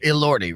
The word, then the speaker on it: Elordi: Elordi, right?